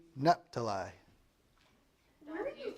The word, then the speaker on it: Naphtali: Naphtali. Oh, this is Tommy. Sage, how do you pronounce? Naphtali. Naphtali? Okay. I mean, it's kind of what it looks like, right?